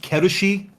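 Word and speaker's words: Kal'tsit: I think it's pronounced Kerushi. I think that's how the Japanese pronounce it.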